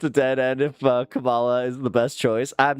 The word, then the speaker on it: Kamala: bear with me, but Kamala. I get it. Okay, now there. It's not because I hate her. It's because I'm stupid. All right. I think it's a dead end if Kamala is the best choice.